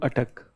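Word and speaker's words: Attock: said that his territory extended from Katak to Atuck. So this is how it is pronounced.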